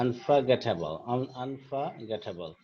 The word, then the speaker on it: unforgettable: Okay, then you have unforgettable, f o r, এটা কিন্তু উচ্চারণটা ফা হয়ে গেছে, হ্যাঁ, unforgettable, ওকে, ভোলা যায় না, যেমন যেটা, এটা একটা adjective, which is very difficult to forget।